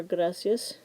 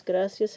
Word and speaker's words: gracias: put an accent over gracias which does not belong because gracius has two syllables and we put the stress on the first one because of the rule second to last syllable gracias because it ends in